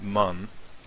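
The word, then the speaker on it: 万: In Japanese, they've got, and this, it's pronounced man, but technically there is an English word for this, which is myriad.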